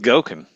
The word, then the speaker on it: Goeken: Because it rhymes with Goeken.